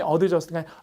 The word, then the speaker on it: adjust: 이건 강세가 여기 있거든요. 그러니까 발음이 adjust가 adjust 이렇게 강세가 뒤쪽에 있고 이 발음은 약하고 이 발음도 약해요. 그러니까 얼핏 들으면 just처럼 들려요.